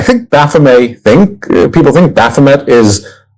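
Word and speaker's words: Baphomet: I I pronounce Baffomet as Bame one uh because of the significant quantity of French uh French Canadian heritage that I possess.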